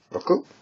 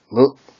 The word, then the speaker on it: 六: It's pronounced roku in the on reading, and mu in the kun reading.